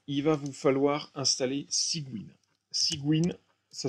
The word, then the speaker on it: Cygwin: Sous Windows, moi je fais tourner mon soft avec un logiciel, une espèce d'émulateur Linux Windows qui s'appelle Cygwin.